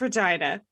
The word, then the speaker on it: Regina: reynolds was 25 he changed the sign for regina saskatchewan to uh regina which rhymes with fun it's regina he says the line